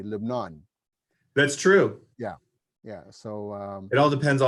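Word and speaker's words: لبنان: I'm gonna say Lebanon because the Lebanese called their country live non that's true yeah yeah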